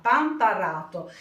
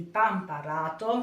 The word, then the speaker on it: Pamparato: Scusate ogni tanto qualche piccolo difetto nella pronuncia. Oggi vi voglio parlare dei biscotti di meliga pamparrato, ma nel video sentirete più volte pamparrato perché io aggiungo e tolgo.